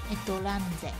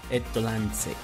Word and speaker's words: EtlanZ: ¿En japonés cómo se pronuncia? Etolanze. Etolanze, eso es.